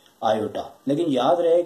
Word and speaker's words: iota: इससे आयोटा पढ़ा जाता है और इस तरह से लिखा जाता है और स्पेलिंग इसकी IOTA यानी कि आयोटा।